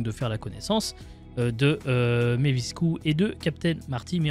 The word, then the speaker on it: Mavisku: Bonjour Mevisku. Bonjour. Donc, c'est comme ça qu'il faut le dire, ça s'écrit M-A-V-I-S-K-U, mais c'est bien comme ça qu'il faut le prononcer.